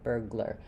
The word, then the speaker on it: burglar: Glink of the G as going on this syllable burgler. Burgl burglar. It does have to go quickly between the G and the L.